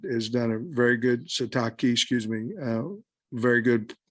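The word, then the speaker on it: Sitake: how much respect he has yeah for Kalani satake I mean sataki I don't want to say his name wrong p-i-l-i like he's showing respect like to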